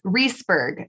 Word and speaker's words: Reisberg: today's guest is reisberg did i pronounce that right close reeseburg is my last name oh man because you